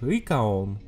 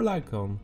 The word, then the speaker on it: Lycaon: Hi everyone, I'm and welcome to a review of Masochist Red Circus, an album by the Japanese band Lycaon, or Lycaon, you can pronounce it however you like.